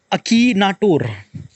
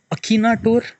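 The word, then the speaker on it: Akinator: सो अकी एन ए टी ओ आर सो अकीनाटोर kind of like अ pronunciation अकीनाटोर अकीनाटोर या like I can't say एक्नेटोर like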